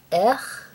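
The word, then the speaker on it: Eh!: The eye colors are Maya, Ech, E-H with an exclamation mark. I just feel like it would be pronounced Ech.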